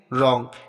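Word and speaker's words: wrong: रहेगा नेक्स्ट देखते हैं रंग यहां पर भी देखो डब्लू के बाद आर आया है तो डब्लू हमारा साइलेंट रहेगा रेस्ट अब यहां पर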